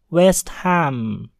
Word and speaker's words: West Ham: West Ham West Ham hal pada kata hem dibunyikan dengan jelas dikarenakan HAM terpisah dengan kata wes sehingga berbunyi West Ham West Ham Hai tips yang ketiga